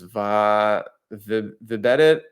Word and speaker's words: Vibedit: Vibedit, like Reddit, Vibedit, but it's a social network for vibe coders.